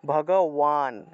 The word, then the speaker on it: ভগবান: এই যে বান আছে না, বান শব্দটা ওয়ান হিসেবে উচ্চারণ হয়। আমরা 1 2 3 4 বলি না, 1 2 3, এভাবে 1 2 3 আমরা লিখি না, এইভাবে একইভাবে ভগবান, ওয়ান উচ্চারণ হবে, ওয়ান, ভগবান। রক্ষা, রক্ষা, সবাই বলুন রক্ষা।